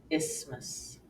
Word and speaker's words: isthmus: that fit the rule The Only Exception is in just a few words the th will be silent as in asthma or isthmus feel your throat as